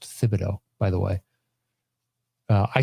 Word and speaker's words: Thibodeau: first whereas the knicks are viewed as tom thibodeau's team first or thibodeau actually it's pronounced thibodeaux by the way uh i still say tibs